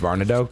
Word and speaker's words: Varnado: Is it Poe Varnado? I don't think so. I think it's Varnado. Correct, Tracy? Is that? That's how I've always heard it pronounced.